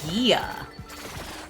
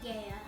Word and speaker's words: Gaia: Oh, Google says the American pronunciation is Gia. Gaze of Gia. That's so weird. Gaze of Gaia.